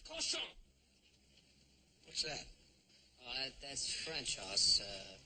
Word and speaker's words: cochon: The word is pronounced cochon.